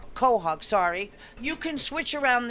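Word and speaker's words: quahog: crab um qu Hogs do you pronounce it quw I say cwk kohawk sorry you can switch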